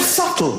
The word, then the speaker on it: subtle: The word subtle. Would anybody object if it was spelled s u t l e?